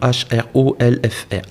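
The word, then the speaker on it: Hrólfr: Alors c'est quand même plus facile à prononcer en français Rollon parce qu'en danois c'est Hrolf qui est le nom H-R-O-L-F-R.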